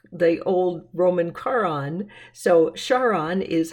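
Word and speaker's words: Charon: and you pronounce it you kind of say the beginning for Charlotte and so it's Sharon is the pronunciation not the old Roman Quran so Sharon is how you say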